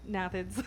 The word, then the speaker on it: gnathids: It's pronounced a couple different ways. It's most likely gnathids.